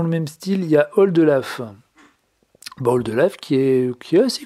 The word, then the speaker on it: Oldelaf: vous allez sur youtube vous tapez oldelaf donc aux ailes d elf comme ça se prononce et puis chanson la